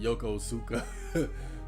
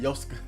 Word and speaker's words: Yokosuka: a Kimmy actually see a word like that I would pronounce it yokozuka but he said yoska that's a cute name